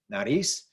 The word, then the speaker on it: nariz: Nariz, this is not a vowel, N or S, so the rule is it should be on the last syllable. It is, that's where the stress syllable is.